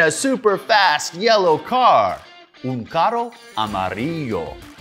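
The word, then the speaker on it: amarillo: super fast yellow car amario that's how you say it in Spanish Blaster unar Amaro wow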